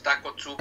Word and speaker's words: Takotsubo: Se pronuncia así como si fuera una sola palabra, pero es Takotsubo.